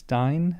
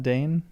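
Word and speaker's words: Dáin: It's Dine, not Dane.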